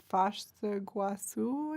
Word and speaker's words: Foz do Iguaçu: Foz do Iguaçu, I think is how you pronounce it properly in Portuguese.